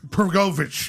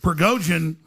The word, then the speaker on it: Prigozhin: Prigozhin, yes, Prigozhin, if I'm saying it right.